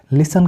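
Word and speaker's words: listen: मतलब होता है अक्सर लिसन का मतलब होता है सुनना एल आई एस ई एन लिसन क्योंकि टी हमने साइलेंट कर दिया इसके बाद है हैसन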